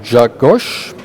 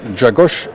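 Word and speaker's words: Grzegorz: the Polish grandmaster Gayfski whose first name reads like George or Gregor or whatever but it's it's pronounced Jug Gosh, Jagosh Gaiffski or Gaou for friends, right?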